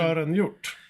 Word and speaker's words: Sören Hjort: Shoren, you pronounce this thing. It's in Icelandish or some other outlandish northern. Sören Hjort. Shoren Hjort, of course.